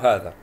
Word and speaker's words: هذا: هذا طبعا تشير إلى المفرد المذكر، شاش مفرد مذكر فتكون قبله هذا، طبعا وهذا فيها ألف تنطق ولا تكتب، لاحظ معي ها هذا،